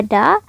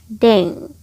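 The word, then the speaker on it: 田: Cara baca kunyominya bisa ta, bisa juga da. Onyominya deng.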